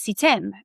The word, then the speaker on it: CTEM: So, there it is, CETEM has a silent D, it's CETEM.